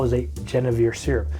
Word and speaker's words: Genièvre: We need 1 ounce of what people call is a Genièvre Syrup. The actual pronunciation of it should be Genièvre.